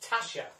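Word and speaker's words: Tatia: right but it's pronounced Tasha ah so it's Tasha so it's Tasha but it's it's kind of spelled I have to study this t a t i a but it's pronounced Tasha and thank you very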